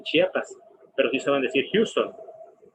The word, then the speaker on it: Chiapas: Inclusive en la pronunciación, muchos dicen Chiapas, no dicen Chiapas, pero sí saben decir Houston.